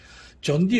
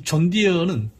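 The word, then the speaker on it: John Deere: 그래서 발음은 존 디어 디어 똑같지만은 사실은 사슴은 아닙니다.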